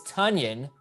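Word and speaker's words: Tonyan: Tunyon. That's how you pronounce it, people. It's Tunyon.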